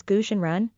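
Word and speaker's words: 蛊真人: another name Taoist goo the Chinese name is pronounced as gooshenran gu is the name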